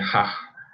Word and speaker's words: Hajj: Y a su vez la Meca es la mezquita, que en árabe sería Hajj, que es como H aspirada a JJ, es el nombre específico del no del templo, de shrine.